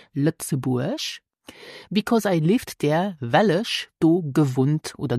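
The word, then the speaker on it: Lëtzebuerg: easy ich kenne lzeburg so pronounce luxurg the country lzeburg I wel ich gewunnt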